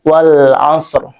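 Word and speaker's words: والعصر: Alif lam di sini adalah alif lam qamariah sehingga dibaca jelas lamnya. Karena apa? ee karena alif lam bertemu dengan huruf qamariah yaitu ain. Jadi dibacanya jelas ya izhar wal as lamnya terdengar jelas.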